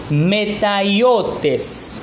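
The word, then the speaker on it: ματαιότης: mente Qué significa bueno la palabra que se traduce por vanidad es la palabra metallotes o más bien metáyotes así se pronunciaría en griego que significa también tiene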